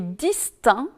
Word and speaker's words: distinct: le elle est prononcée attention aussi aux mots aspect est distinct dans lesquels ni le sait ni le thé ne sont prononcés alors qu'on dit direct